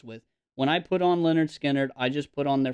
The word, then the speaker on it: Lynyrd Skynyrd: this is Lynyrd Skynyrd's first album pronounced Leonard Skynyrd and I love Leonard